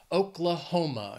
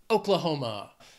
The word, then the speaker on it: Oklahoma: O's going with Oklahoma this state has four syllables and the stress is on that third syllable Oklahoma you can hear it emphasiz that hom Oklahoma I don't know why